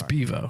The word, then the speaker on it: Bevo: we pronouncing this incorrectly it's Bevo it is Bevo yes okay you keep